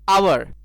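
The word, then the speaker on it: hour: जो पहला वर्ड है आवर, यानी यहाँ पे एच साइलेंट है, यानी इसका पहला जो उच्चारण हो रहा है वो हो रहा है आ, और आ एक भाउल साउंड है, इसलिए इसके पहले एन का यूज होगा, एन आवर वर्क।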